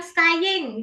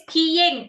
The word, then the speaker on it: skiing: Ah, tadi broya sempat bilang skying gitu. Iya, iya. Skiing maksudnya. Oh, skiing. Oke. Nah, we say skiing. Kalau sky nanti langit.